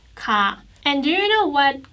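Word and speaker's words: 가: but ka is like you just pronounce it smoothly ka and do you know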